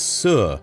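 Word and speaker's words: 四: In Mandarin Chinese, the word for the number 4 is se. The word for the concept of dead or death is almost identically pronounced as se, and so it's very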